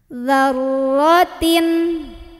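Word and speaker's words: ذرة: Ketemu ro, jangan dalnya dipanjangin. Jadi zarro, bukan. Dalnya tetap pendek, tekan ke ro. Zarro, zarro, ya. Zarrotin.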